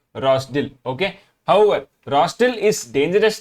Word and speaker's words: Rozdil: of all he loves Town rosol Ukrainian pronunciation is rosil okay however rosil is